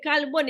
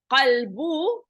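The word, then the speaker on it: قلب: So the kalbun, if you pronounce it, the heart as qalbu, a kalbu is, you don't pronounce the qa in itself, and you say kalbu, it becomes a dog, right?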